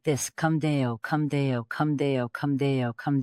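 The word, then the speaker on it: cum Deo: It's pronounced kdeo. That's right. Come deo.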